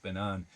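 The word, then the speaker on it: Ben Avon: banan uh spell um avon you would think it would be pronounced uh even but it's uh banan anyway we've got a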